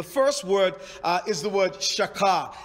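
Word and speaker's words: shachah: for worship the first word is the word shaka it's spelled s-h-a-c-h-a-h a lot it means depressed not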